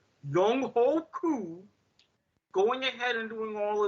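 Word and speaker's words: Younghoe Koo: going to do is, and yes, this is the proper pronunciation of his name. I don't give a damn what you networks try to say to keep this up. Young Ho Koo going ahead and doing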